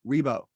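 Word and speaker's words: Ribbot: my office manager's baby his name is Dr r i b b o t Rebo but the way you spell it is Ribbit and I've always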